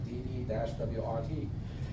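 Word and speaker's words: DD-WRT: how do you say how do you say it you have to spell out the letters right dd- wrrt so what it is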